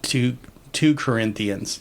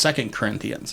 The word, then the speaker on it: 2 Corinthians: and he said like 2 Corinthians, and anybody who's been to either a Bible study or to church or anything like that knows it's pronounced 2 Corinthians.